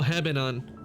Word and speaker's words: Hebanon: Hebanon. Oh, Hebanon. That's how it's pronounced.